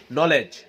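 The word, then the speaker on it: knowledge: জ্ঞান, অর্থাৎ KNOLEDGE, নলেজ। এখানে ডি এর উচ্চারণ হয়েছে? ডি এর উচ্চারণ কিন্তু হয় নাই।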